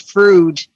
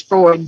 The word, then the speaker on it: Freud: Just FYI, in Detroit, we call it Frood. We know the proper term is Freud, but we refer to it as Frood.